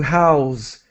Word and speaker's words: house: pronounced a little differently the verb is to house like a z sound to house good question